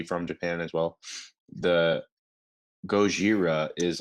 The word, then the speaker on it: Gojira: So the original movies, like obviously from Japan as well, the Gojira is like the Japanese translation of Godzilla.